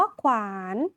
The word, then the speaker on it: ขวาน: ไป ค่ะ คำ ว่า ขวาน เรา จะ อ่าน ว่า ข ว อาน ขวาน ค่ะ อ่าน ออก เสียง ข ไข่ กับ ว แหวน ควบ กัน ค่ะ คำ ต่อ ไป ค่ะ